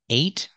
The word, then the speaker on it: eight: in the past eight it's the same sound as the number eight and we also see the long a sound in late so eight eight and late use the long a sound and the T at the end you can make a stop T you don't have to